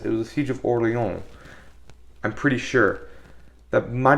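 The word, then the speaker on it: Orléans: it's Orleans it's New Orleans for a reason okay I you don't even have to pronounce it like you're how you're supposed to which is oron just say Orleans I would have accepted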